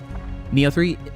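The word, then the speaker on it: Nioh: Neo3, that is spelled N I H3. Um, I can understand why you would spell it neo because that is also how it sounds.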